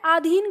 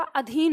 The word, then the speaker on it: अधीन: तो अक्सर हम इसे आधीन कर देते हैं और हम बोलते भी आधीन है वो उसके आधीन था ऐसे कह देते हैं आपको ध्यान देना है कि आधीन नहीं होगा अधीन होगा अब इसे याद करने